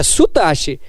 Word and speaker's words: Soutache: É Sutache. A escrita é S-O-U, mas a pronúncia é Su.